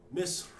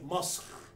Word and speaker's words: مصر: And in Egypt, majority of people in Egypt will say Masr. But they, as far as Arabic is concerned, the correct is Misr. But in Egypt itself, people pronounce it as Masr.